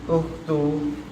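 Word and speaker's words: أُخْتُ: Had ukhtu. Ah. Di sini enggak ada enggak ada lainnya. Berarti apa itu? Hadi hadihi. Heeh. Ukhti. Ah dibacanya domah. Ukhtu. Ukh ukhtun.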